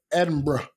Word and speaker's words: Edinburgh: And I was actually talking to my friend Raluca, who lives in France, about going to Edinburgh.